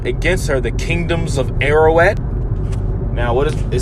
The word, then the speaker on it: Ararat: Call together against her the kingdoms of Ararat. Now, what is it? Says against her, right? Ararat, that's how you say it in Hebrew.